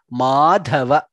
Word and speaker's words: माधव: He Madhava, Madhirga and Dha is Mahaprana. Madhava.